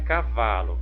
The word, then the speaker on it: cavalo: Na palavrinha cavalo, qual que é a sílaba tônica? Vamos verificar. Cavalo, cavalo, olha, é o vá.